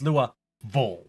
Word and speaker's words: Louisville: vills around Louisville but no it's Lua V like I was almost